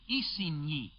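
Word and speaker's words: Isigny: Mi Northwest of k k by the way is spelled CA n it is near e on your map spelled i s i g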